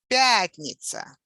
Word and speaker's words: пятница: The fifth day of the week, пятница. Пятница. The stress on the first syllable.